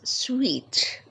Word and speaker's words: suite: to stay in their Suite means to be at home and this word through it spell s UI t e but it's pronounced as sweet so make sure to